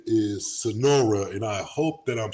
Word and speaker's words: Sunaura: have a special guest on her name is Sonora and I hope that I'm saying that right